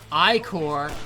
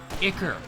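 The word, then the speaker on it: ichor: And Terry, it is pronounced Icor, not Icker.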